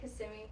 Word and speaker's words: Kissimmee: It's like Kissimmee.